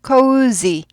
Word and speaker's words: cozy: 즈즈즈즈 아니고 즈 발음이요. cozy, cozy, cozy, cozy, cozy, cozy, cozy.